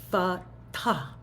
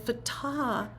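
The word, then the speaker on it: فتاح: So in some languages, this is true in Chinese and Arabic and Persian, there's an aspiration at the end of the word.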